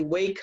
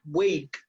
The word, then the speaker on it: wake: In the morning, I usually wake up, okay? Look at this, right? Wake, Wake up. Letter E is silent, right? You do not pronounce it. So the last sound is k, k, k, and that's a consonant sound.